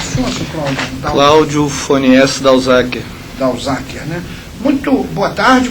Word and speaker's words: Dauzaker: Cláudio, como é que pronuncia o sobrenome do senhor, Sr. Cláudio? Cláudio Fonies Dalzacker.